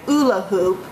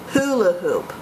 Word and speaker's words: hula hoop: the indefinite article a when the H is pronounced in a word hula hoop I didn't say Oola hoop I said hula hoop who La hoop okay